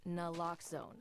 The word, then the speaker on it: naloxone: For the record, it's naloxone. Na, like, is naloxone addictive? Nuh-uh. Lox, like naloxone keeps humans safe like locks keep bikes safe, and own, like naloxone can save lives in our very own communities.